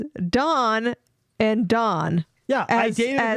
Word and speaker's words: Dawn: a dong or DW Don rhymes with con Dawn rhymes with Pawn thank you yes both